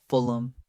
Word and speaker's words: Fulham: Fulham. Fulham. Reduce the last syllable to a soft notam.